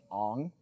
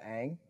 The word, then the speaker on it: Aang: they pronounced his name as Ong the entire movie instead of Aang.